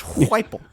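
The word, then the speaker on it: Heupel: that coach hire that dude that dude to pronounce his name it's weifel thank you it's it's Yosh the J is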